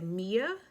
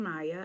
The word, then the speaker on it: Mia: And I know some people might say Mia. I am saying Maya.